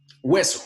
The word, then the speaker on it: hueso: que la otra y hueso otra vez se dice que no estos dos ejemplos que vienen también está la h pero la h no se pronuncia entonces otra vez el